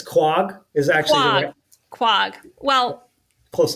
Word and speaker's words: Quogue: Is because I'm in a gallery there, the Quogue Gallery.